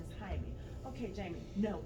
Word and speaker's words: Jaime: The other thing that resonated with me was the microaggressions, specifically when Jaime went to court and the receptionist kept mispronouncing his name as Jamie.